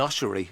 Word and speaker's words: ossuary: He went to an ossuary. Is that how you pronounce it? An ossuary? Ossuary, yeah. Ossuary, yeah.